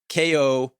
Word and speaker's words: Ko-fi: But it's through Ko-fi, which is Ko-fi.